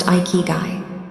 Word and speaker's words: ikigai: The most powerful and holistic score is the Japanese concept of ikiguai pronounced iikuy.